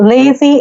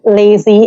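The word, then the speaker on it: Lacie: I'm hearing it right it's called lazy Indie magazine uh it's l-a-c-i-e lazy in D Magazine uh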